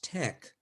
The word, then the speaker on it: TeX: back to Greek and the pronunciation is Tech as in technical plus their their symbols